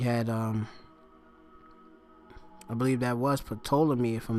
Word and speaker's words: Ptolemy: This put Ptolemy, or Ptolemy, that's how you pronounce it, yeah.